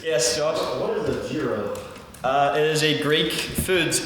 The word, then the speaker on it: gyro: I need to correct that. Okay, it's a euro.